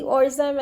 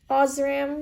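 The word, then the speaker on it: Osram: but that's actually false it's not actually Oram and it has nothing related to being Oram written anywhere on the actual light bulb itself so ozam not Oram sorry I said it wrong but it also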